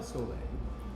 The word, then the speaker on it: Soule: I say soul, but it could be soleil. It could be that.